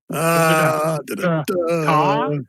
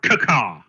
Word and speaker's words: Cacaw: Caw or cacaw? Oh no, it's always caca. They're Cacaw, okay. they're 2 syllable ravens, not 1.